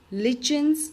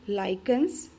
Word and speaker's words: lichen: my words students that this will not pronounce it lichens or something this is lichens try to pronounce it right all the hard Spelling's